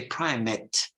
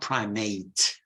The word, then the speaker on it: primate: priest like the prime you say Prime net not primate so it's the primate the the primate of Canterbury the Archbishop of Canterbury is a primate well when you speak of us or the monkeys you say primates so Prime met for the priests primate for the for the primates or the monkeys and and men and